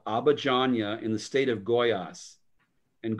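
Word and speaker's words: Goiás: little town called abajanya in the state of goyas and goyas is spelled g o g-o-i-a-s and it's um it's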